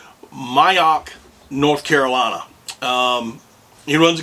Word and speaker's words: Moyock: mail I'm sorry but I believe it's pronounced mayak North Carolina um he